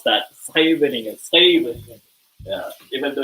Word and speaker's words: Scheveningen: So over here, the famous word for people to pronounce it is Scheveningen. So it sounds different from the way you read it.